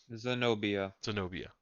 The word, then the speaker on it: Zenobia: Zenobia. And you can never pronounce right. Yeah, The N comes before the B, comes after the O.